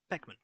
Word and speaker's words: Beckman: Or I can play Ben Blackman. Beckman. I keep saying his name wrong.